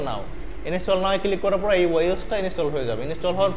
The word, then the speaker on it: Yoast: ইয়োস্ট, YOUST, ইয়োস্ট বা YAUST, ইয়োস্ট। ইয়োস্ট বানান করেন তো?